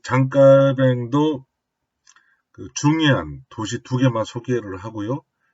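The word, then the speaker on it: Jean Calvin: 보통 칼빈이라고 하는데요. 프랑스 사람이거든요. 그래서 장깔뱅이 맞습니다. 프랑스식 발음을 해줘야 되니까요. 또 장깔뱅도 중요한 도시 2개만 소개를 하고요.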